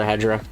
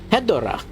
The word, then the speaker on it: Hedorah: fight The Smog Monster hedra or hedora depends where you're in Japan hedora is how it's pronounced in America obviously for the dub they called it hedra so I'm kind of